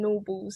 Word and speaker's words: Gnorbles: that, and so it's about teaching them the G in Norbles is silent.